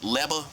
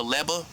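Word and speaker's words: Legba: L E G B A The G is silent. Leba. Papa Leba.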